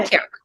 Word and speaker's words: Antioch: She took a degree in history and education from, I always pronounce this wrong, Antioch? And how do you say it? Antioch? Okay, good. Antioch, perfect.